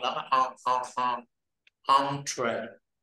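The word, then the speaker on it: entrée: À, là cái chữ e, e, n đó, mình không đọc là n, mình đọc là on, on, on, on. À, mở miệng lớn là on, on, on. Entree. Entree.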